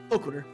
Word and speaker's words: Loquitur: Loquitur, yeah.